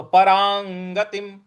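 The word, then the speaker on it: परांगतिम्: बोलेंगे परांग परांग परांग र के ऊपर जो अनुस्वार है उसके आगे ग है तो क ख ग घ अंग का जो अंग आता है उसका उच्चारण यहां पे अनुस्वार के लिए लाना है तो परांगतिम परांगतिम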